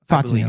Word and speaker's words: Fontenot: Is that, am I pronouncing his name correct? Fontenot.